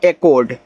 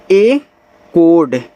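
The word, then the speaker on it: echoed: ई सी एच ओ ई डी देखो इसको पढ़ते हैं एक कोड। ए कोड आप इसे मार्क कर लीजिएगा। ये देखो बिल्कुल भी मैच नहीं कर रहा है हिंदी वाले से।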